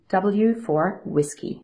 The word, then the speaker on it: whiskey: love doing so it's V for Victor and W for whiskey also in your material on pages 35 and